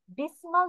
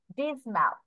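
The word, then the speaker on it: dismal: খেয়াল করো আর অন্ধকার এখানে ডেসিমাল না বলে আমরা হচ্ছে একটু এখানে এটা হচ্ছে আমরা এরকম করবো ডিসমাল ডিসম্যাল তাহলে ডার্ক ডিসম্যাল অর্থ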